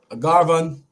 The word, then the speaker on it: Garvan: You know, how you pronounce it? Garvan or Gervan? Garvan. Okay, Garvan.